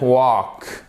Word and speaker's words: walk: She didn't walk. Et on ne prononce pas le L ici.